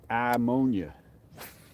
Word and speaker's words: Iamonia: Chad Ryan Lake I ammonia it's just too hard to say I ammonia so everybody says ammonia if you got a real thick accent you could be like amonia and then you're kind of pronouncing it correctly come on big bass